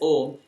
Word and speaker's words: Om: the om only because these three letters a u and m pronounced in combination as om can alone be generalized